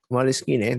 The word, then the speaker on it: Moleskine: Moleskine, that's how you pronounce it. Actually, it's Italian.